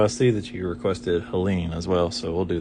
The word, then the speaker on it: Helene: The E is pronounced, so we want to make sure we add it here, not here, because this is a silent E down here. So H-E-L-E-N. Now this is a silent E, Helene.